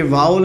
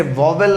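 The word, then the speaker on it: vowel: अब हम सब जानते हैं कि ये वाउल एंड कॉन्सोनेंट क्या होता है। मेरी प्रोनाउंसिएशन सुनिएगा, मैंने इसे वॉवेल नहीं बोला है, मैंने कहा वाउल। वाउल्स बोला जाता है इसे, ना कि वॉवेल, ठीक है।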